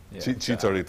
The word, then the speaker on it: Chicharito: Chicharito? Chicharito, all right.